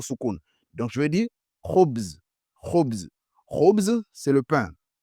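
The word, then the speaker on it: خبز: Donc, ici, on a le mot Khoubz. Khoubz. Nous avons la lettre Kha au début.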